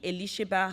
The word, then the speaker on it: Elisheba: So my full name is Elisheba. That's my full name, I know. Okay, I want to pronounce it.